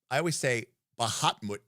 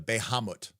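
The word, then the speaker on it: Bahamut: Oh, if pawn no longer, I always say Bahatmut instead of Behamut.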